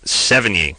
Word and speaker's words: Sevigny: Sevigny.